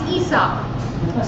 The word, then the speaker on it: Aesop: also didn't know that aesop is esop so our company is named esop games no matter what